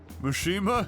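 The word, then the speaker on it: Mishima: Mushima. Yes, exactly. That's the proper pronunciation and I won't hear otherwise.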